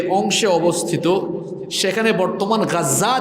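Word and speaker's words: غزة: ওই মানচিত্রে দেখবেন সিরিয়া, লেবানন, জর্ডান, মিশর, এই দেশগুলো যে অংশে অবস্থিত, সেখানে বর্তমান গাজ্জা যে অংশে, আপনারা গাজা বলেন আর কি, আরবি উচ্চারণ হলো গাজ্জা, এই গাজ্জার অংশে লিখে দিয়েছে গাম্বিয়া।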